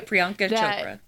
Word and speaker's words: Priyanka Chopra: Yeah, Priyanka Chopra.